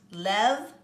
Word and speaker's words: lève: This is pronounced lève, lève, lève, levons, lever, and lève.